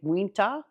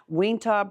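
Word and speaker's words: Uinta: is from a brewery I'm not sure how to pronounce this but it's UI n ta so I'm going to say WIA WIA Brewing Company in Utah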